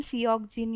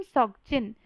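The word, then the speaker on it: 석진: बोल सकते हो, लेकिन अगर आपको कोरियन नेम बोलना है तो वो है किम सॉक जिन। अभी इसको बहुत सारे लोग किम सियोक जिन या फिर किम सोक जिन बोल देते हैं, जो कि गलत है।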